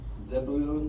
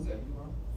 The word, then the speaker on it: Zebulun: Zebulun. Zebulun.